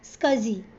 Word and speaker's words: SCSI: So it is pronounced as SCSI and it is an interface for the disk drive that was first completed in 1982.